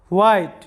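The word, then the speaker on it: white: হচ্ছে যে যখন বা যখনই এরপরে দেখো যে হোয়াইট এটা হোয়াইট উচ্চারণ করতে পারো আবার হোয়াইট উচ্চারণ করতে পারো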